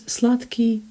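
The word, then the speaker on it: сладкий: first syllable and slutky you can see d in there but it's pronounced as ta simply because k impacts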